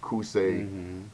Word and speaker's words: Qusay: Remember with Uday and Qusay, if I'm pronouncing their names correctly, That's correct.